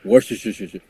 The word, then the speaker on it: Worcester: Let's just go Worcester. I'm like, how? you just added a bunch of syllables to that shit, It's bro. called Worcester.